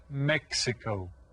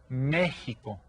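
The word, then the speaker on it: México: live there call it Mexico and notice that the accent is on the first e and that tells us to that we stress that syllable and the X sounds kind of like an H so you pronounce it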